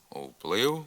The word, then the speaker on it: вплив: вторинний у цих словах на місці початкового правописного в вимовляється нескладовий звук у уплив уступ управа вторинний вимовляйте такий же